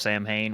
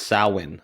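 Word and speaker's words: Samhain: Michael Myers was part of the festival of Sam Hayne where he had a Celtic rune on his wrist and that's how he was basically brought back every time due to sacrifices.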